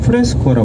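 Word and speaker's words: fresco: 그래서 간단히 얘기해 드리는 부분인데, 이 천정이나 벽화를 그리는 기법을 뭐라 불렀냐면 프레스코라 불렀어요. 가이드가 영문가입니다. 그래서 F 발음에 굉장히 유의해 주셔야 돼요. 다 같이 한번 해볼까요? 프레스코, 아랫입술을 지그시 꾸물으셔야 됩니다.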